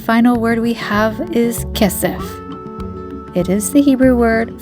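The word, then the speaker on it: כסף: the fifth and final word we have is kessef it is the Hebrew word for silver we spell kessef with the following letters of cough and final pay kesef okay kids it's time to review the words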